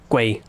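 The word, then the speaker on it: ก๋วยเตี๋ยว: Noodles. Uh, two rising tones. Now, the first syllable, uh, is it? Sorry, they never really say the first syllable that fully or stressed. It's usually just guayio. I I I always hear it as guay gu like you're trying to say the word like way but there's a like gu a y basically.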